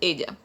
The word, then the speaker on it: ella: Double L is pronounced as J in Spanish, so it is pronounced as ella.